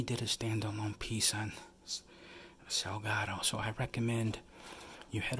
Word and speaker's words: Salgado: this photographer was dead Sebastian sidalgo Salgado excuse me I mispronounced this last name Sebastian Salgado but anyways he's a